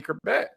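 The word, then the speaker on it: Chrebet: Wayne Kerbeck. Am I pronouncing his name?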